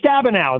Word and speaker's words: Stabenow: Yes, Debbie Stabenow, I think is how you say it. Yeah. Oh, Stabenow.